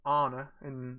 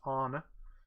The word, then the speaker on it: Anna: its Anna it's pronounced honor in this I know it looks like Anna but it's pronounced honor seventeen in Winnie the